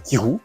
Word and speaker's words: Kyrou: Donc, je m'appelle Kirou, ça s'écrit K-Y-R-O-U, comme ça se prononce pas.